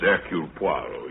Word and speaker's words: Hercule Poirot: If I may be permitted, the once slight correction, my name is Eul Puarro. Your good sister proceeds on the familiar English assumption that we are not English. Do not know how to pronounce our own silly names.